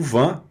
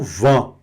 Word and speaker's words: vin: O van. Van é vinho, não é? Tá aí. Van. Van. Observem. Sintam essa essa necessidade que dá da boca dar uma, né? E não vã. Não é vã. É v. Vá.